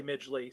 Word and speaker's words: Midgley: Oh, that I would say Midgley.